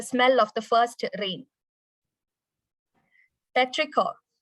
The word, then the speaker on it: petrichor: It's petrichor. Sorry. You can pronounce it as petrichor.